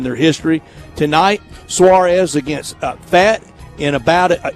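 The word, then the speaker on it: Pfaadt: history tonight Suarez against fat and about is it fat or fought how does he pronounce it fought I think like like I fought the law and the law one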